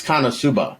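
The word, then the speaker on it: KonoSuba: It's Kanosuba. That's how you pronounce it.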